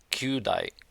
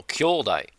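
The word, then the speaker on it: 兄弟: Kyudai. No, kyodai.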